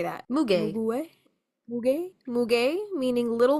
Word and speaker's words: muguet: Muguet.